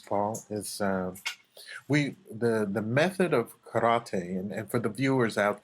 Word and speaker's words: kara: but yeah, the pronunciation is kara. Kara means empty, emptiness, and actually the character.